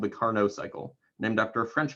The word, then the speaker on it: Carnot: something that's called the carnot cycle named after a french fellow i presume because you don't pronounce the t at the end of the word or at the end of the name and so the carnot